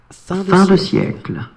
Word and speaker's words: fin de siècle: Fin de siècle. Fin de siècle.